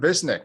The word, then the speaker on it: Visnic: interested in and that's chronic pain uh visnik thank you for being on the show chris